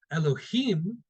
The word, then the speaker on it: Elohim: Elohim, if we were to read it with the actual how it's spelled, meaning does not necessarily mean God himself.